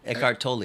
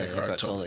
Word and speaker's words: Eckhart Tolle: Eckhart Tolle, yeah. Eckhart Tolle.